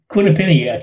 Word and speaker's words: Quinnipiac: couple of days ago the latest if I'm pronouncing the University right quick Quinnipiac Quinnipiac yeah Quinnipiac University and its approval rating at